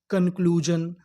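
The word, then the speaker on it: conclusion: एस आई ओ एन। इसे क्या पढ़ना था? जन। तो हमारी पूरी मीनिंग क्या बनी? क्लज कंक्लूजन कंक्लूजन कंक्लूजन का मतलब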